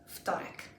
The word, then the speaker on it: Wtorek: Wtorek.